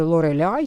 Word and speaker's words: Lorelei: що мене виправляють е Я називаю її лореляй бо Взагалі Це є якби ну міф не міф легенда в німецькій там літературі чи ранньо німецькій літературі звісно по-німецьки ця вимова буде лореляй тому я її так і вимовляю і scorpіions вони теж